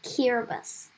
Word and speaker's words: Kiribati: You might want to travel by Kiribati. First of all, it is pronounced Kiribati. Yes, it is. The letters T-I make the S sound here. Kiribati is spread out over